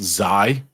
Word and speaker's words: xAI: some other stupid way it's obviously pronounced zai I was thinking this